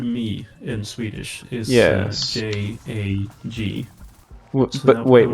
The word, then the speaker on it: jag: J-A-G. So But I wait, would what?